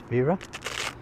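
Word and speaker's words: Wera: a German brand to the W's pronounced V so that's vera and in here we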